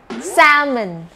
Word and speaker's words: salmon: ตัว อย่าง คำ แรก นะ คะ คำ ว่า salmon salmon เด็ก ๆ ฟอ นิค ก็ จะ อ่าน